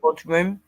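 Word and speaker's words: bodhrán: drum, a bodhrum, Hmm. pronounced bodhrum.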